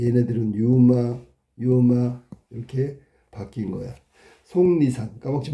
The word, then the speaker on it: 속리산: 속리산. 틀렸네. 속리산. 이렇게 발음해야 되는 거야. 속리산. 자음동화 중에 상호동화에 해당되는 거지.